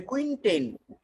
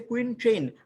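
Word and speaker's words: quintain: এটাকে বলে কুইনটেইন। এটাকে কি বলে বলেন, কুইনটেইন। অনেকে বলছে কুইন ট্রেন, আর ভুল হবে, বেবি ম্যানুয়ালে এই বানানটা ভুল দেওয়া আছে, কুইন ট্রেন না বলে কুইনটেইন হবে।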